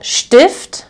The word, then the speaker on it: Stift: beginning of the syllable, you will pronounce this as st. So here I have der Stift, okay, the pen or pencil,